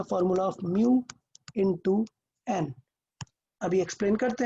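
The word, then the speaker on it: mu: अच्छा, इसका प्रोनाउंस क्या करते हैं, म्यू, इसको प्रोनाउंस करते हैं म्यू।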